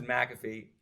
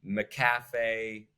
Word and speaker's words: McAfee: what I was thinking my last name is McAfee I grew up my entire life with it being mispronounced like maafe and I have to correct people every single time so anytime I see